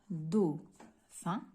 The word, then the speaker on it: dauphin: البي اش هذا لو بي اش ننطقو اف.